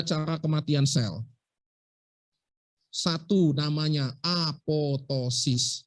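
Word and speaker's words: apoptosis: kematian sel satu namanya apotosis bacanya apotosis tulisannya apotesis bacanya apotosis bukan apotesis sama Nanti kalian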